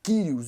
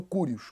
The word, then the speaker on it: Kyrios: Então o nome de Deus passou a ser substituído pela palavra Senhor, pela palavra Kyrios ou Curios, conforme dependendo da transliteração.